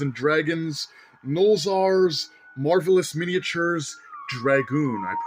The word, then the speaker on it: Dragonne: This is the Dungeons & Dragons Nolzur's Marvelous Miniatures Dragoon. I pronounced it correctly this time.